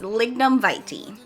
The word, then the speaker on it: lignum vitae: this like num big lignum vitae vitae hold on i'm gonna get the right pronunciation okay it's lignan verti so these are the